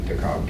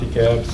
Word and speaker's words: DeKalb: Yeah, we call it DeKalb, but I know in Georgia they call it DeKalb.